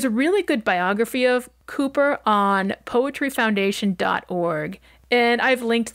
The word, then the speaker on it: Cowper: is spelled c w p e r and pronounced Cooper rather than as I thought when I started writing episode Cowper he was born in 1731 in herfordshire and